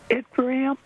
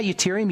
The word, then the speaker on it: yttrium: I want to say yttrium. Put an E in there.